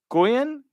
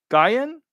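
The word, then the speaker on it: Nguyen: first n so if the N is silent it's Goen guen Yuen F Yuen phonetically Yuen that's how I pronounce it Doug if you're out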